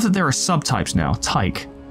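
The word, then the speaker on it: Tycho: there are subtypes now Ty like Tao the AI in Marathon rhymes with psycho slow charging two damage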